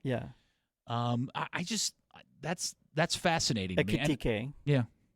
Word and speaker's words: Ekitike: Ekitike. Yeah. Is that how you pronounce his name? Akete? Yes. Akete. Yeah.